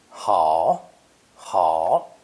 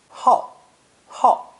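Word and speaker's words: 好: same in modern form pronounced third tone ha ha this is also a split sound character pronounced fourth tone ha ha when it means to be especially fond of some thing or activity a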